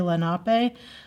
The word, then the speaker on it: Lenape: the local native americans our lenny lenape some people say lenape i don't know it's kind of like you know you say tomato i say tomato but i'm sure it's